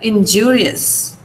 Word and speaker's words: injurious: Now IOUS, here, injurious. Injurious. Where is the stress here? From my pronunciation, you should be able to tell me where the stress is. Injurious. Jew. And injure, ma'am. Jew. Only Jew.